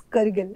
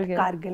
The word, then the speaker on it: Kargil: I used to call it Kargil, but when I visited there and then I figured out that it's Kargil. It's not Kargil, it's Kargil.